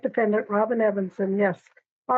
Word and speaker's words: Evenson: Now, is it pronounced Evenson or Evenson? It is Evenson. It is Evenson. I've never seen it pronounced that way. Thank you. I'm glad you printed that. Thank you. It makes sense. It's even plus son, but I've always heard Evenson.